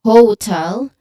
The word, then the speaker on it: hotel: So, it it like the stress should be on the second syllable, not on the first syllable.